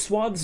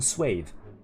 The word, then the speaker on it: swath: Is swaths not with? With an E? Hold on. No, okay. Receive pronunciation, swathe. General American swath. Or swath.